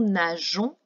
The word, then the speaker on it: nageons: Ce « e » ne se prononce pas, il permet simplement d'avoir le son « je » au lieu du son « g ».